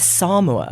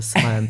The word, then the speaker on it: Samoa: Yeah, it's Samoa is how Samoa. they pronounce it. Yeah, Okay. he told us he'd been ticked off by the Samoan PM for saying it wrong. I think we can forgive him that. We've all been saying Samoa, so Indeed.